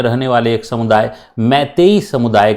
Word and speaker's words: मैतेई: जिसे हम कहते हैं मैतेई या मैते समुदाय। प्रोनाउंसिएशन जो है वह मैते भी होता है और मैतेई भी होता है।